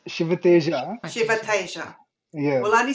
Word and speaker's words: Sivateja: All right, I know let's that get the J is silent in Spanish, I think, but in Indian, J is J.